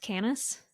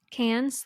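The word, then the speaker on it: Cannes: filmmakers such as canis is it pronounced canis cans cans thank you such as cans Berlin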